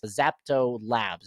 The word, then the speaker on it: ZeptoLabs: And the name of this company is ZeptoLabs, if I'm not mistaken.